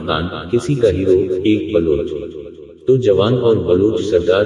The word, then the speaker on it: بلوچ: بلوچستان کہا گیا ہے لفظ بلوچ کا تلفظ وعملہ مختلف کیا جاتا ہے لیکن بلوچوں میں اس کا ایک ہی تلفظ مستعمل ہے یعنی بلوچ بے مفتو، لام، مسمہ، مجہولہ اور جین، مغقوف لیکن جدید فارسی میں